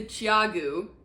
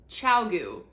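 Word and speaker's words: ChiaoGoo: They are pronounced Chiagu, not Chiagu, Chiagu, like CHOW chow and then GOO goo.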